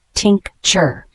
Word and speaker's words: tincture: r e is a noun pronounced Tink chur it is a medicinal